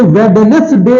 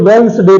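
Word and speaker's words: Wednesday: silent होता है अगला इसे वेडनेसडे नहीं पढ़ते हैं इसे वनस डे पढ़ते हैं इसे वेंस डे पढ़ते हैं वेडनेसडे नहीं पढ़ते हैं इसमें वनस डे इसमें डी साइलेंट होता है वेंस डे लेकिन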